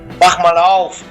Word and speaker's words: Mach mal auf: But how was that pronounced again? Mach mal auf.